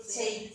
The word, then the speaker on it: city: Then it goes, cycle through the city. Now you see, you would go, cut, but it's not. It's the soft C. So that now on city and cycle makes a sound, not a cut.